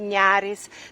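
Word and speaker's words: Neris: я, а Тому, наприклад, река латинкой по-литовски називається N-E-R-Y-S. Нерис пишеться, але треба произносити нярис. Тому і ми кажемо завсёды весь час нярис, нярис, как бы калька з литовської мови.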